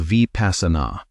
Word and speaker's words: vipassanā: The second practice is called vipassana.